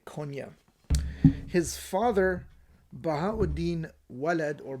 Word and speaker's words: Konya: Konya with a qaf sound. It is in modern-day Turkey or Turkey. However, in modern Turkey, it's spelled with a K in their modern orthography, and it's pronounced as a soft. They usually don't pronounce the qaf, and they just say Konya.